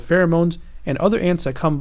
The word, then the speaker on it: pheromones: here this tells you how to pronounce it fair uh moans pheromones right so these are